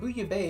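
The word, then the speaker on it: bouillabaisse: Booya Base is a pun for Booya Bay. Booya Base, the big mall in Splatoon, is a pun on Booya Bay, pronounced almost exactly the same, but Booya Bay is a French seafood stew.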